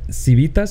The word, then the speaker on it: Civitas: Representative Anchia is a co-founder and managing director in the global investment firm Civitas.